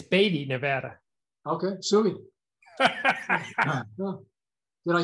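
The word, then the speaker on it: Beatty: gotta say something it's baby yeah please it's baity nevada okay did i spell it wrong too or just no that's spelled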